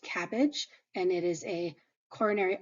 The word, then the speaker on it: CABG: BMT is a bone marrow transplant cabg is pronounced cabbage and it is a coronary artery bypass graft